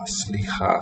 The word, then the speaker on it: סליחה: Oh, sli, not three sounds, but just the s written with the emphatic. Li and then cha. Slicha, sorry. Excuse me, sorry.